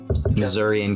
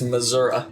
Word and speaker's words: Missouri: It's Missouri, not Missouri. Missouri.